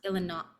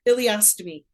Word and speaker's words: ileostomy: So for people that don't know, how do you pronounce it? Illinois. You're confusing me. Ileostomy.